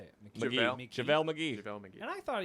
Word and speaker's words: McGee: I like this McKee guy. McGee, how do you say it? McGee.